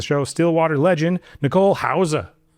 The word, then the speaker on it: Hause: Welcome to the show, Still Water Legend, Nicole Hower. What's up? That's like the actual way to pronounce. Yeah, you know, the German way.